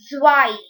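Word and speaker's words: zwei: s ions in germany 2 is said as zwai zye w e i zy three is said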